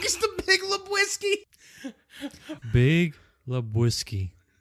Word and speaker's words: Lebowski: Big Lebowski. Say it together with me, okay? The Big Lebowski. He went from the Big Lewinsky to the Big Lebowski.